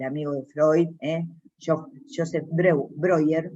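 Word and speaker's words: Breuer: de Freud yo Joseph broger se pronuncia broger es apellido en alemán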